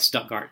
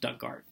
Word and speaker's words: Stuttgart: born in a small town in Arkansas called Stuttgart we call it stuck art it's like Stuttgart from Germany but it's spelled the same as the German version but in Arkansas it's pronounced duck guard okay what is next were you born we're